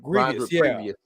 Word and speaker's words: Grievous: Grievous, yeah, rhymes with previous.